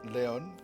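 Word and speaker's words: León: Let's build 6 levels in Leon, rather, not Lyon. I don't know why I pronounce it like I'm French. It is not a location in France. And shouldn't have been pronounced that way.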